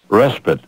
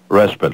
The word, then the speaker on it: respite: Respite, R-E-S-P-I-T-E. Respite, let's take a little respite, a rest. Looks like respite. Respite is correct.